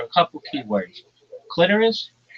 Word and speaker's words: clitoris: clitoris, not clitoris. It doesn't rhyme with the sorus. It rhymes with almost like icorus clitoris and um menstruation.